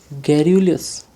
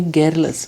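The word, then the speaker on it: garrulous: next चलते हैं और ये आज का लास्ट क्वेश्चन है गैरुलियस गैरुलियस तो ये गैरलस गैरुलस नहीं होगा एक्चुअली है गैरलेस का प्रोनाउंसिएशन क्या होगा गैरलस ठीक है तो गरस का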